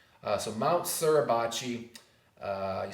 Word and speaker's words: Suribachi: Iwo Jima was a peak known as Mount Suribachi. So Mount Suribachi, you spell that S-U-R-I-B-A-C-H-I.